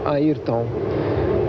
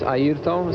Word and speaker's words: Ayrton: First of all, it's not Ayrton like all Americans or English people used to say, it's Ayrton. And uh so it's Ayrton Senna da Silva.